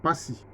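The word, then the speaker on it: Pazzi: Bon, ça s'écrit Passy avec 2 Z, mais ça se lit Passy.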